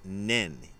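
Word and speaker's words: 念: to and this is the word and it's pronounced nen in Japanese and this is the word that's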